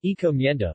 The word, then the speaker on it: encomienda: Encomienda, Spanish pronunciation, encomienda, was a Spanish labor system.